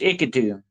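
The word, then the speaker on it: Iquito: For over 500 years, the indigenous Ikitu people, that's pronounced Ikitu, people have shared stories of the Pastaco, pale-skinned beings who steal human fat and faces.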